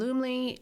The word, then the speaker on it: Loomly: And Loomley, if you want to look it up, is spelled Loomly.